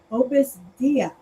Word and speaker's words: Opus Dei: Agnes in Manhattan to Opus Dei. Did I say it right? Dei. Opus Dei. I'm sorry. Like day, yeah, okay, like the priest. day.